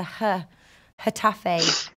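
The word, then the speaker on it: Getafe: is villal versus hfe they don't pronounce the G's it's a h h Tafe do it who are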